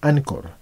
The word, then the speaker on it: Anchor: este material en podcasts están en ancor que en inglés significa ancla es decir ancor es en inglés y ancla es en español y se escribe anchor en español pueden verlo